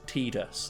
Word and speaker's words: Tidus: once was almost no his name's pronounced Tidus and I went well the game is entirely revolving around this water theme and he's like you know water tide again Titus okay Titus a of